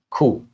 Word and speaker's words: coup: And here the letter P is silent. Coupe noun meaning a sudden violent and illegal sheer of power from a government.